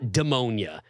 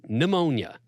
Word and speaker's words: pneumonia: but like you know it's not demonia you can't be serious you say demonia it starts with a P first of all where's the demonia coming in the p is silent and then there's the end it's pneumonia get it together anyway anyway